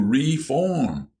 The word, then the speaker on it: reform: "I'm going to reform." William put the accent on the first syllable.